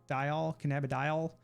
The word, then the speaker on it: cannabidiol: Cannabidiol.